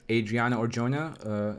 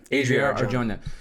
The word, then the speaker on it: Adria Arjona: Saga trilogy, and now we're adding Adriana Arjona. Is that how you say her name? I'm sorry. Adria Arjona.